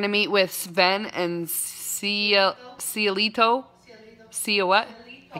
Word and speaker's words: Cielito: You have to say it in a Mexican accent. I have to say it in a Mexican accent? Cielito.